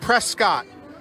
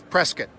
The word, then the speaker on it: Prescott: it it looks like prescott boy don't say that when you're around here local pronunciation and the correct pronunciation is prescott so we're gonna be